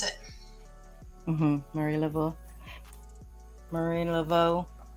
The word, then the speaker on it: Laveau: to pronounce it murray level marine level e-a-u-x is pretty much a uh like but like a o sound like bow uh boudreau tibito oh